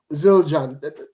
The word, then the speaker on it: Zildjian: me come back to ask you about um zildjian that's how it's pronounced yeah children yeah yeah i mean i